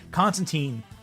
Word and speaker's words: Constantine: Constantine, rhyming with time, like in the comics.